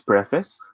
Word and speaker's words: preface: say this in books what is the proper pronunciation of this word give me a smiley face if it is preface give me a wink face if it is pre-face smiley face or wing